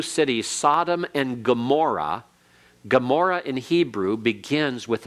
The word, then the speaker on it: Gomorrah: And you have to learn which words then have that kind of sound. And Gomorrah is one of those. And you have a key to that by having the English spelled with a G, which is a correct anglicized form.